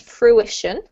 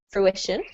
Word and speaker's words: fruition: really really perfect just split the syllables up a tiny bit more so it's fruition fruition okay but yeah you're